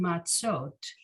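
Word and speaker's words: מצות: by showing us that in this word matsot which is the plural of matzah right that it's a two-syllable word okay now the target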